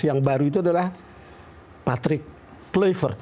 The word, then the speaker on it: Kluivert: Dan karena Anda sudah lama di Belanda, lalu kebetulan sekarang kita punya pelatih timnas yang baru itu adalah Patrick Kluivert. Kluivert apa Kluivert Kluivert.